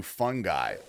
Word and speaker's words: fungi: Yeah, it's uh I I think distantly related to fungi or actually it's technically this pissed me off. That's actually pronounced fun. Like if you listen to a a scientist say it, they say fungi.